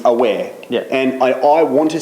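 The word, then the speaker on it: Awer: But I need to say it about Awa because Awa, pronounced correctly, is aware.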